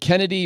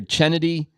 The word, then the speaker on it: Chennedy: themselves look stupid and is it Kennedy or chennedy Carter c h e n n d y I think it's I think it's pronounced Kennedy but I don't know I think it is pronounced that but it looks like chennedy Anyway her so it's pronounced Kennedy with the ch dude yeah you know